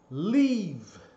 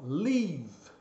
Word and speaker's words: leave: A letra E em inglês, essa aqui, é som do I, né? Quando ela tem um som longo, que é o caso aqui. Então, aqui o som é leave. Ó, leave. Olha só a pronúncia escrita, o I aberto.